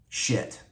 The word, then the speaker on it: Schiit: If you're not familiar with them, the name of the company, it's spelled SCHIIT, and it's pronounced like it's spelled, shit.